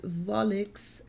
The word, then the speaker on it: Volixe: lovely fam i'm believing the pronunciation of the band is volix and the song is